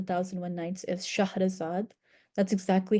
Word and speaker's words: Shahrazad: The heroine of The Thousand and One Nights is Shahrazad. That's exactly how you would pronounce her name, Shahrazad, and that's the version that's closest to the Arabic original story.